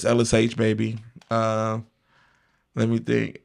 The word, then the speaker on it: Ellis Aych: It's LSH, baby. My last name is not, it's spelled A Y C. Like, but it ain't just the letter. Uh, it's LSH, baby.